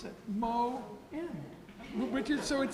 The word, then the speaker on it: Moen: how to pronounce it Moe Richard so it says it's Phyllis moment in parentheses pronounced moe and so very briefly